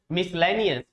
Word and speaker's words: miscellaneous: आपको पता है जब S के बाद C आता है, जब S के बाद C आता है तो C क्या रहता है? साइलेंट रहता है। क्या रहता है? सी साइलेंट रहता है। इसीलिए जब इसको हम पढ़ते हैं मिसलेनियस तो इसमें सी का प्रोनाउंसिएशन नहीं होता है।